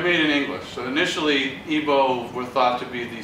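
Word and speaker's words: Igbo: sometimes felt IV oh there's no G the G is silent here but they're made in English so initially ebo were thought to be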